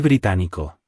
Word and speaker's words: británico: To say I am British, we say Soy británico. if male and Soy británica. if female. The stress falls on the syllable with the accent. Británico. Británica.